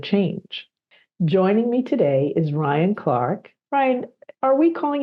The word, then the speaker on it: Ryan: Now that I'm here in Rio, it's a lot easier for people to say Ryan, even though they still get it wrong. They say because they don't pronounce R like R.